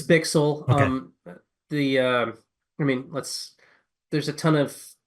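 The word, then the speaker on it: Bichsel: It's Bixel.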